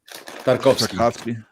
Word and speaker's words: Tarkovsky: Tarkovsky? Is that how you would pronounce that? Tarkovsky.